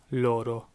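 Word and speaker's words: loro: then finally they which is third-person plural is Lord oh Lord oh so we have yo - Louie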